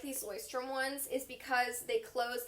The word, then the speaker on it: Leuchtturm: I thought it was Leuchtturm. So you might have seen them. It looks like Leuchtturm 1917, but it's pronounced Leuchtturm.